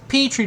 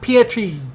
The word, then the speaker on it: Petrie: The name is pronounced Petrie, not Pietri, dumb fuck.